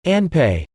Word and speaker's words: anpe: In the same fashion, adding nasal, into, f, doesn't create a, anfe, sound but rather, a softer, anpe.